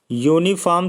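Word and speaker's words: uniform: ऐसे देखिए यूनिफॉर्म जो होता है, यूनिफॉर्म शुरू होता है या से।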